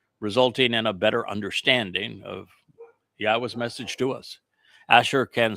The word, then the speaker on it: Yahweh: And four, he told us how to pronounce his name. Yahweh is from haya.